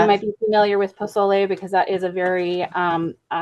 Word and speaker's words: pozole: Lacey just corrected my pronunciation of pozole earlier.